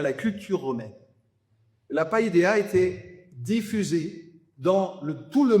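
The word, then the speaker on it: paideia: culture, qui s'appelle la païdéa. Alors, je vous le propose comme ça. Il y a plusieurs lectures, prononciation, païdéa. Voilà. Vous le dites, c'est celle que je choisis.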